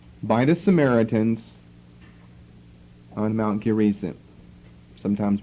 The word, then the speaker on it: Gerizim: A temple was built by the Samaritans on Mount Gerizim, sometimes pronounced Gerizim.